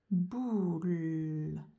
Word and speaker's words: boule: Un O et un U. O et U, ça fait OU. Boule. Et je ne m'arrête pas, j'enchaîne avec le L. Et je n'oublie pas un E qui ne s'entend pas, un E muet.